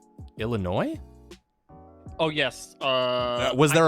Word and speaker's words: Illinois: draft we always say Illinois if that's something we're gonna play classic and I like to pronounce the S because I think it upsets people Illinois Illinois for sure there's no